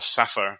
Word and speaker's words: SAFER: And the tanker is named after that company, either pronounced Safer or Safer, depending on your preference.